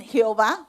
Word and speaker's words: Jehová: Otros lo dicen Jehová, pero eso simplemente poniendo las vocales entre las consonantes.